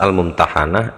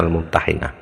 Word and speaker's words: Al-Mumtahanah: sak temene surat Al-Mumtahanah iku bi fathil ha'i kelawan fathait ha, jadi mumtahanah sigote maf'ul. Waqat tuksaru lan kadang-kadang tuksaru dipun kasroh apa ha, kadang dikasrohkan, jadi bacanya al-mumtahinah. Fa'alal awali moko ing atase ingkang awal, maksudnya berdasarkan pertimbangan pertama, yaitu dengan dibaca hak fathah hak al-mumtahanah.